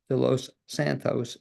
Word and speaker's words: De Los Santos: pleasure to introduce de Los Santos. Am I pronouncing it correct? Help You me on said it perfectly. I would have thought that. you were a native Spanish speaker by that pronunciation.